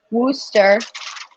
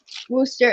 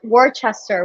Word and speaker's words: Worcester: that's true they they actually the city worcester wooster in uh wooster in massachusetts it's pronounced rooster and i was always like worchester we're going to warchest and we're like no